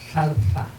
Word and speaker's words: zarza: Y la zarza, yo la pronuncio como decimos nosotros por allá, pero es zarza, ¿no?